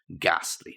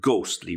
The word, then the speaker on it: ghastly: to feel ghastly or to look ghastly ly not ghostly remember ghostly is something different entirely it's to do with